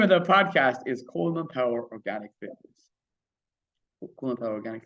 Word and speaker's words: Colman Power: all my social media, this is Coleman Power, but it's spelled with COLMANPOWER. Coleman Power. Yeah, don't put the E in there.